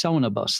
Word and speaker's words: SonoBus: It's called SonoBus. How do you spell it? SoNOBUS. So like it's SonoBus then? SonoBus, yeah, basically, yes.